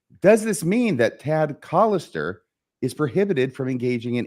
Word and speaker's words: Callister: mean that t and it's collister by the way you habitually mispronounce his last name I think I've corrected you on this before Mr real cister we wouldn't want you have you accused of being racist against him or anything like that by mispronouncing his name so Tad collister uh